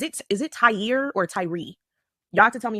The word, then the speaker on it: Tyre: a video real fast so I can make sure I have his name pronounced right I just can't hear somebody say it okay okay Tyree okay okay Tyree all right what do